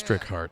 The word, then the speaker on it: Strichart: And as long as I can prove Localization director Scott Strichart pointed out to me that it's Strichart. I know how to pronounce it.